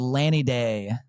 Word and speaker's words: Laniidae: And then Underrated, band from Charlotte called Lanny Day. And it's spelled LANIIDAE, I think.